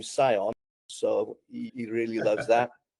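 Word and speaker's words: Siôn: So Gareth's full name is, my eldest is Gareth Sean Jones, but we spell Sean Sion. Right. So everybody calls him Sion.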